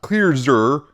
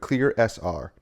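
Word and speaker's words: ClearSR: email and they said it's pronounced clear and then sr separately not clear zur but clear sr i know that's just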